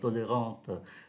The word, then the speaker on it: tolérante: vì chúng ta thấy tính từ tolérant thì có ơ phía đằng sau, chúng ta phát âm là tolérante.